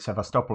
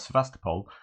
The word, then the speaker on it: Sevastopol: are asking why I called it sevastopol and not Sebastopol uh just because I've listened to ukrainians and Russians say the word and that's how it said uh you can go